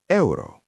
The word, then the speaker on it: euro: Euro is eero.